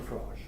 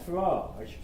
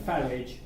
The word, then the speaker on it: Farage: the reason why it's Farage, spelled Farage rather than Farage, rhyming with garage, the reason why it's like pronounced that is because he's a French Huguenot.